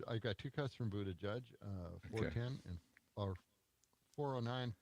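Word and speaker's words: Buttigieg: no let's go to how do you say Buddha judge is that how you say yeah Buddha judge yeah just Buddha judge Buddha judge judge uh I got two cuts from Buddha judge uh 410 and or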